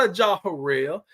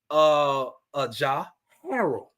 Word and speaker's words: Ajah Harrell: It's not Ajah Harrell. It's Ajah Harold. So from now on, ladies and gentlemen, number 6, his name is Ajah Harold. That is the complete pronunciation of his name.